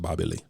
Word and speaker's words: Bobby Lee: some good memories of Bobby Lee. Mm-hmm. You can't say it like that. You gotta say it like you said. Bobby Lee. Bobby Lee. You gotta be fast. All one word.